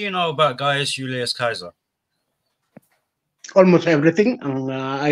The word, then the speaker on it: Caesar: what what do you know about guys Julius Kaiser almost everything and I like history from fantastic okay I am not a scholar I am not a historian what Kaiser dead in Gold when you say Kaiser you mean Caesar yeah yeah because it's the